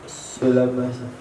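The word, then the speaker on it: سُلامى: As-sulami bidammi sin al-muhamalah wa takhfifil lami wa fathil mimi al-mafsalu. Bacanya apa? Sulama.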